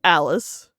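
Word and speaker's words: Alyce: Basically, so Alice in Wonderland, she ends up having a granddaughter whose name is Alice, but it's spelled A-L-Y-C-E, so that's why it's called Alice with a Y.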